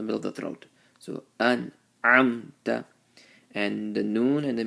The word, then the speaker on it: أنعمت: So the way to do it is to give a moment of silence after you pronounce the noon and the meme. An'amta, an'amta alayhim.